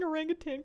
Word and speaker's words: orangutan: just a good idea thank you for pronouncing orangutang correctly people put a g in the end drives me nuts yeah I think orangutang